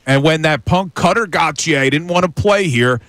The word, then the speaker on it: Gauthier: It's Gauthier, by the way, not Gauthier.